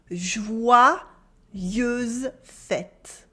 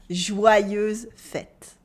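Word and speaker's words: joyeuses fêtes: feminine that's a trick read it after me jouer use fett jouer use fete good you might have noticed by now the pronunciation of the french y in jouer let's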